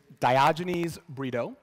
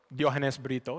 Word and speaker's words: Diogenes Brito: hi everyone hi my name is diogenes breedo or Dianes bito if you want to pronounce it the way my mother intended uh most folks call